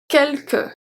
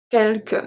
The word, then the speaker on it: quelque: So here we have 2 different pronunciations for the E. The first one is pronounced E because it's before 2 consonants. The last one is the E, regular E. Quelque.